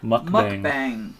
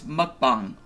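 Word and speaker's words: 먹방: pronunciation there pookie mukbang mukbang all right actually it's spelled out like muk mukb but it's mukbang mukbang okay that's the correct korean pronunciation how would you know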